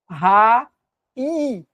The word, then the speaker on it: raízes: para frente certo então Ó raes a sílaba tônica é paroxítona e a justicativa conforme